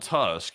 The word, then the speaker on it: Tusk: way, Polish Prime Minister Donald Tusk is pronounced U like two like no two and two SK uh not like uh large tooth.